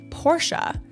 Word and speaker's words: Porsche: out the other day that Porsche is actually pronounced Porsche and I wanted to do a video on